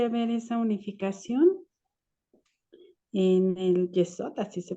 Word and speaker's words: Yesod: No puede haber esa unificación en el Yesod, así se pronuncia.